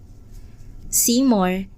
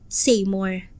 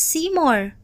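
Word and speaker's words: Seymour: pagbigkas ng kanyang pangalan se more as the correct pronunciation but may Wayward Kido pronounce it as saym more I don't think my son mispronounced it though He must be teasing here What did you call me saym more it's seymore you ungrateful punk ma'am ania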